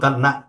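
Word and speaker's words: ت: এবার জিহ্বার আগাটাকে উপরের দুই দাঁতে লাগাও, দুই দাঁতের গোড়াতে এই যে ভিতরে। এদিকে তাকাও। সবাই করো। একজনকে বলা মানে অপরজনকে বলা, হ্যাঁ, সেম কাজ উভয়জন করবা। হামজা ছোট তো এই জন্য তার নাম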